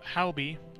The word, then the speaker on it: Halby: His name is Halby. Halby is spelled H-A-L-B-Y. Halby.